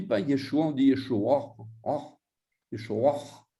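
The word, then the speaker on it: ישוע: on dit Yeshua, Yeshua, avec un A sémite, intraduisible en grec. Yeshua. Voilà. Yeshua. Yeshua. C'est vraiment, il faut être un arabe ou un juif pour savoir prononcer parce que ça vient de la gorge.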